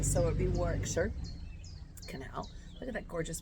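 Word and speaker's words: Warwickshire: looks like it's pronounced Warwick Shire, but you don't pronounce the second W and you kind of um meld the N. So it would be Warickshire Canal.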